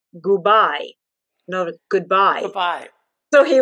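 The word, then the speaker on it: gubai: heck is that and if you pronounce that phonetically in italian it was goodbye no goodbye goodbye so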